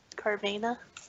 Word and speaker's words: Carvana: What's not a pain in the ass is Carvana. Okay. And Is it Carvana? I call it Carvana. Carvana on the plaza? Carvana? Vana would have to be like there'd be an I in it. Carvana, like A-N-A.